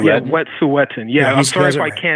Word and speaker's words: Wet'suwet'en: disturbed me is that Wet'suwet'en protesters, right? Mm-hmm. You see, Wet'suwet'en. Pardon me? No, it's Wet'suwet'en. It is. He's got it right. Yeah, Wet'suwet'en.